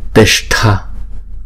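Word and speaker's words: tiṣṭha: Chữ s có dấu nặng thì chúng ta uống cong lưỡi lại và búng ra sha sha. Và chữ th có dấu nặng là chúng ta đọc là thở, uống cong lưỡi lại và búng ra thở, thở.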